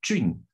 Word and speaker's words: Jun: This is quite an annoying name, I must confess, because, you know, this name, actually, it needs to pronounce it as Jun.